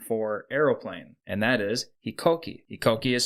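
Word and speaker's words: 飛行機: the Japanese name for Aeroplane and that is hikoki hikoki is spelled h i k o k i and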